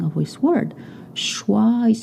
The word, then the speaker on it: choix: Choix is spelled C-H-O-I-X. It's not choice. It's choix.